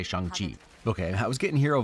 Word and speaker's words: Shang-Chi: could but you know it's supposed to be shangti right or but that sounds wrong when i say it so i'm just gonna say shang chi okay i was getting